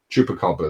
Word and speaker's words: chupacabra: There, I'm just going to say we've got the next topic we're going to talk about is chupacabra. Is that how I pronounced it right there, John? Chupacabra.